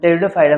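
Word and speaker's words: Pteridophyta: टेरिडोफाइटा इसमें प में टेरिडोफाइटा में आपका पी साइलेंट है जी से जिम्नोस्पर्म और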